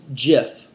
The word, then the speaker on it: GIF: said and I quote it's a soft G pronounced GIF end of story all